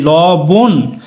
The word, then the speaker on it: লবণ: আছে ল ববন কিন্তু আমরা কি বলি ল বোন উচ্চারণ করো ল বউকারে